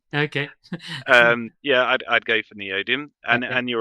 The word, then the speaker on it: neodymium: maybe some of the biggest rare earths, like neobitum. Am I pronouncing it right? That's as good as I, Yeah. that's as good as you're going to get because I'm not going to do any better. Yeah. Neodymium.